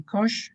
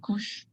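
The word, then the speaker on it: Keush: the proper pronunciation is cush well you know i think uh it depends who you ask so some people say kosh some people say kush i think you should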